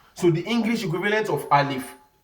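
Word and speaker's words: ألف: the English equivalent of alif is something like father when you say father for example is the English equivalent of al if because when you give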